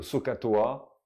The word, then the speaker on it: SOHCAHTOA: Effectivement, SOHCAHTOA, hein, SOHCAHTOA, SOHCAHTOA pour sinus, SO, donc SO, S-O-H, on n'entend pas la H, hein, SOH, KASH, TOA, hein, faudrait essayer de prononcer les H, mais SO pour sinus égale opposé sur hypoténuse, pardon.